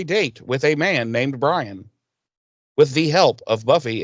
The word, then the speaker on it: Brian: But yeah, she's going to be going on a date with this feller named Brian, and that's how he pronounces his name, is Brian. Brian, yeah. And BRY-ANN. Right. ANNE, right. Brian.